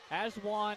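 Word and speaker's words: Ajuan: Aswan is how you pronounce his first name, but they call him Mikey.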